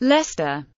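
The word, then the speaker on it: Leicester: english gloucester pronounced Elster English Lester pronounced Lester loss of an unstressed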